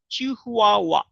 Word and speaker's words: Chihuahua: Trust me, till today, I was thinking that Chihuahua should have been spelled like Chihuahua, but I had to Google around and get the correct pronunciation, Chihuahua.